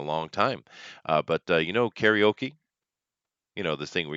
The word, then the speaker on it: karaoke: but I mean it's just the English English pronunciation of it but Cara okay Cara means empty in Japanese and okay is